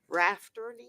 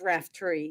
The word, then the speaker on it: Raftery: I've been pronouncing your name all this time wrong. Rafterty? It's Raftery, yes.